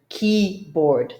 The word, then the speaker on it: keyboard: Keyboard. Think about the bored image, the guy that just is dying of boredom. And the key, so it's keyboard.